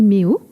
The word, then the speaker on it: Meot: C'est avec un T à la fin, mais qui ne se prononce pas. Non, il n'y a pas de point, c'est juste Méo tout attaché.